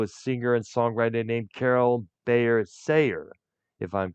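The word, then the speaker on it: Carole Bayer Sager: He was also married to a singer and songwriter named Carol Bayer Sayer, if I'm correct how her name is pronounced.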